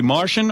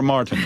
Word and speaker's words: Martin: Riley Martin Riley Martin Riley Martian or Martin well it's spelled m r t i n interesting uh interpreted as